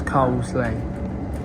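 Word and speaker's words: Coseley: cuz it's spelled as Casselli, but we all know it's cosley.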